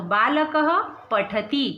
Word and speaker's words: बालकः: विसर्ग का उच्चारण कैसे होगा? ह, है ना। अकारांत और आकारांत, ऋकारांत ऋकारांत के लिए क्या उच्चारण होता है? ह। तो यहाँ क्या है? अकारांत, तो क्या उच्चारण होगा? ह।